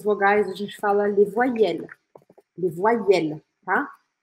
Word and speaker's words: voyelles: Em francês, as vogais a gente fala les voyelles. Les voyelles, tá? Como se eu pronunciasse assim, ó. Voyelle. Para o som no L.